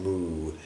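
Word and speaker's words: 無: pronounce it, but apparently in the past the Chinese pronounce it something more like woo, which is more like woo.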